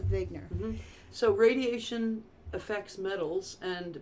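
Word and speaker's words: Wigner: there's a whole science WI GN ER and they pronounced a big nur so radiation effects metals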